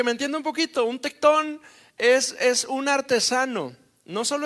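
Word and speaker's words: τέκτων: Y la palabra carpintero viene de una palabra griega que se pronuncia tectón.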